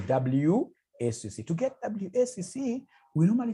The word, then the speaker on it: WACC: There is somebody who pronounced this as Wakaka. No, it's supposed to be WACC.